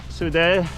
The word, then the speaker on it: Soudet: But yeah, this one, they just threw this one in to keep it hard, because We could have gone straight from the Soudet, that's how you say it, straight to Marie Blanque, and it would have just been flat in between.